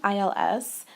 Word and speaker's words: ils: now please note that this is pronounced the same way as the singular he okay because we don't pronounce the S at the end so IL and IL